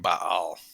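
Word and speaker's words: Baal: cultist follower of bale is it bail or bob i always pronounced it bail and i'm because i'm trying to pronounce the two a's accent b-a-a-l guys what do you think shawn how do you pronounce it it's like by all oh i guess it depends on what part of the country you're from oh boy i think the two a's are supposed to be pronounced separately so aaron what do you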